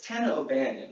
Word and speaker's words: Tana O'Banion: It's Tana O'Banion, right? Yeah. It isn't pronounced like super Irish or anything weird.